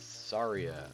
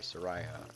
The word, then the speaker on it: Saria: It's Saria, or Soraya, or however you pronounce it. I always pronounce it Soraya, but some people pronounce it Saria.